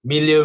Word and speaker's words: milieu: One is to view it from the outside as an object situated in its historical and cultural, how do you pronounce this? Milieu.